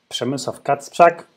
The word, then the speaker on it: Przemysław Kacprzak: My name is Przemysław Kacprzak.